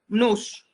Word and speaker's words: nous: Nous, and you pronounce the S, right? Nous.